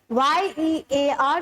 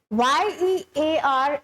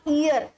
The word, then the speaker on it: year: It's not ear, it is pronounced as year.